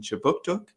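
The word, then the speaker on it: Kjipuktuk: services conducts business in chibuktuk which is how you say halifax in the big man language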